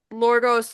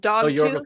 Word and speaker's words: Yorgos: I can't pronounce the guy's name, the guy that did Lorgos Lathamos, Oh, Yorgos Dogtooth.